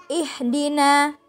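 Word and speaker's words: اهْدِنَا: mudahan dalam membaca Hamzah Hamzah harusnya ihdina biasa ya ihdina alham kan Ilham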